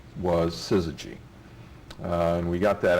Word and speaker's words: syzygy: and the fact that nobody could pronounce it or spell it didn't seem to bother us and uh people called us suzuji and suzuji and and we thought